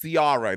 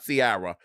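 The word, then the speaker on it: Ciara: Missy Elliot carara experience yes carara that's how she pronounced her name carara not Siara and the prices are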